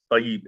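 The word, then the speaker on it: طيب: I know that Tayyub comes from Tayyub or Tayyib, no, not Tayyub, Tayyib in Arabic, and I'm just so used to saying it in the correct way that I just pronounce it that way.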